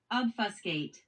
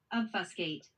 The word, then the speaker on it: obfuscate: So, how do you say it formally? Obfuscate. Obfuscate. I don't like that word. Obfascate. It feels weird.